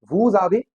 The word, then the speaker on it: vous avez: With vous avez, here ez is pronounced as a, vous avez.